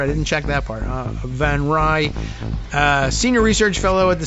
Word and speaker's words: Van Rij: we'll say internationalist Armida van Rij. That's Van Rij in the, I guess, Dutch pronunciation. So I think we've actually got that one. R-I-J. V-A-N, of course, Van Rij.